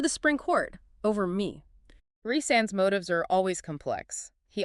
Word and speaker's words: Rhysand: And I always make sure to pronounce that correctly for our listeners. It's Rhysand.